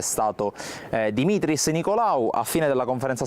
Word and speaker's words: Dimitris: il protagonista è stato Dimitris Nicolaou. A fine della conferenza stampa ci ha confermato che la pronuncia giusta è appunto Dimitris e non Dimitrios, come si è letto